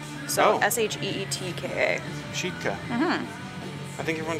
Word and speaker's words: Sitka: It's actually pronounced. Sheetka. So S-H-E-E-T-K-A. Sheetka. Mm-hmm. I think everyone just says Sitka. Everyone says Sitka.